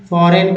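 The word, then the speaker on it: foreign: का जी साइलेंट हुआ फॉरेन का जी साइलेंट हुआ अलाइन का जी साइलेंट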